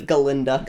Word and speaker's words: Galinda: And she's hussy instead of Galinda.